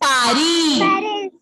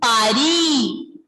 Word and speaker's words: Paris: First one is Paris. First one pronunciation is Pari. Pari. Pari. We S will be silent.